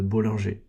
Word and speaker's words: Bollinger: Si tu prononces à la française, ça fait les bandes de Bollinger.